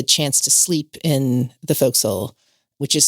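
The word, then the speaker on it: forecastle: And we had the chance to sleep in the folks, which is spelled for castle but pronounced folks.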